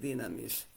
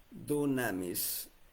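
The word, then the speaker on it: δύναμις: en griego es dunamis, pero la pronunciación es dinamis. La U se convierte en una Y para que se pronuncie como I.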